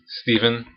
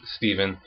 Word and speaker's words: Stephen: But my first name is Stephen. Yes, that's how it's pronounced. It's just Stephen.